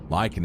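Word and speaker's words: lichen: Lyken. Lykan is how you say that word.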